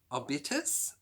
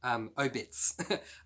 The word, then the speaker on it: Obits: Book number 18 was, I don't know how to say this, Obitus? It's obituary. Oh, sorry. Obits.